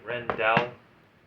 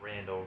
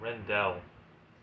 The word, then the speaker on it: Rendell: I think that's how you say it. Rendell. Not Randall, Rendell.